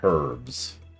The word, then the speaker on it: herbs: Tonight on Top Gear, aluminium and herbs. I can't even say herbs without sounding weird. Herbs. There we go. Herbs. The H is silent.